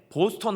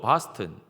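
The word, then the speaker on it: Boston: 미국 동부는 아 발음이 강하기 때문에 보스턴 하면 안 되고 바스턴.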